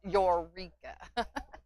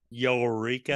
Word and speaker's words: Eureka: And she said Don Mooney says it's pronounced Eureka. Eureka.